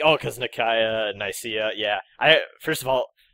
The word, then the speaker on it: Nicaea: So yeah, it's always been Nicaea. Everyone who thought it was Nicaea, you've been wrong all these years.